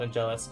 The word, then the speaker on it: Angelus: I like to call it Angelus. Angel Ice would also be an acceptable pronunciation.